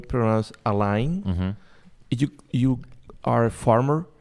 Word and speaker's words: Alain: your first name wrong is Elaine a line a line I was a French name okay yeah I was